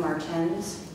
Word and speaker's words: Martens: Adam Martens is the way he pronounced his last name. It's Martin with an S.